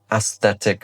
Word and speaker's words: aesthetic: Really a little bit tricky to pronounce. Aesthetic. We've got that lovely S to a TH and then a T with a C, which is kind of a strong K.